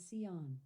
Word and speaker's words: Zion: Cion is pronounced as Seion.